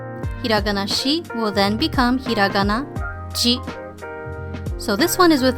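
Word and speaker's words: じ: And also there is no Z pronunciation with the Shi. It will not become Z. It will just be Ji.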